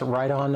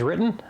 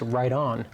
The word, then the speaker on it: Riton: I thought it was written. I stand corrected. I want my friends at Riton to be happy. So we're going to call it the proper name now that I know it's right on.